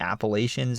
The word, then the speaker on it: Appalachians: However, people more to the south tend to say Appalachian and Appalachia. This is the pronunciation most Kentuckians would use.